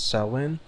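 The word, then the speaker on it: Samhain: Okay, so Sam pronounces salin is a Gaelic festival tradition occurring on the 1st of November believed to be warned of a pagan tradition.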